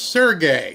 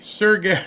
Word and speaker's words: Sergey: Sergey is pronounced Sergey. Sergey. My wife. I was wondering why she texted me that. She's like, "Sergey." Gay, not guy.